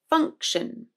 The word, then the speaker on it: function: In function, the first syllable is also stressed, so we get funk, good syllable. And then the second syllable is unstressed, and therefore the I, O becomes a schwa. Shun, function, function.